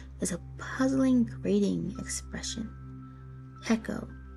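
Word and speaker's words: Pekoe: a puzzling grading expression Echo the term which rhymes with Gekko not Rico comes from the Chinese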